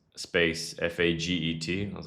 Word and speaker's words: Faget: m a x space f a g e t. I was like, that's a pretty funny name. Um It wasn't pronounced like as you think. I It's like it was pronounced Faget or something like that, but it's just a funny name.